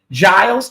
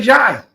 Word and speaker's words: Giles: It's pronounced like a J. Giles. Okay, we'll say Giles.